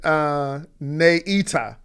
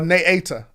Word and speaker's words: Naata: She said, Naita or Naata? Naata, okay. She just pronouncing her name. I love lives because is that Nay? It's a soft A, a long A.